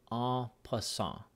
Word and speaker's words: en passant: is the rule of aw + aw it is spelled en space for a new word pas si in T it is a French word or a French phrase and it means in